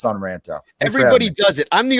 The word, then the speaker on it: Son Ranto: Nation I should say I always want to say San because it rhymes with Ron but I know it's sunranta everybody does it I'm